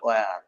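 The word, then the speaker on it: where: এখন এতদিন পড়েছেন হয়ার, হয়ার মানে কোথায়, এটাকে আপনার যারা ইংলিশ ভাষাভাষী এরা বলে ওয়ার, এইচ সাইলেন্ট রাখে, এইচ উচ্চারিত উচ্চারিত হয় না।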